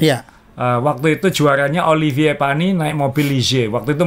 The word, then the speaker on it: Panis: Dan waktu ini satu-satu kemenangannya Olivier Panis, bacanya Panis ya, jangan pakai Panis. Bacanya Panis.